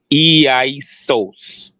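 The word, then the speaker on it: Ἰησοῦς: g2424 which would be isos pronounced e-i sauce God so um the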